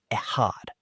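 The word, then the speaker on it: אחד: The word used for one here is echad, pronounced echad.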